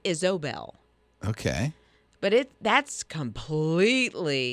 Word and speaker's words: Isobel: well it is but you've got to make sure you say the O instead of an A so Isobel okay but it that's